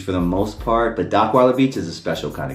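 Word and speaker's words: Dockweiler: And Docweiler Beach rhymes with rot rhymes with the black person vision of Rottweiler cuz black people do not know how to say Rottweiler.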